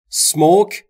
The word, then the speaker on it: smoke: یعنی اینجا سیگار نکشید دوستان تلفظ رو توجه داشته باشید نگفتم اسموک اولش ا نداره اینجا سیگار نکشید smoke